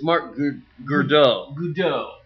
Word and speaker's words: Godot: Actually, it's Marc Godot. Godot. Yeah, so that's not weird enough.